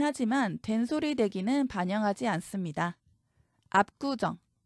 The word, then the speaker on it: 압구정: 된소리 되기는 반영하지 않습니다 압구정 비읍 받침 뒤에서 기역이 쌍 기역으로 소리납니다 압구정 된 소리로 변하죠 그렇다고 kk 적으시면 안